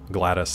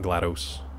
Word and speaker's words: GLaDOS: excited about no it's that's just how it's pronounced it is pronounced that way as far as I know glattus not GLaDOS yeah it's just glattus gladios no RFK no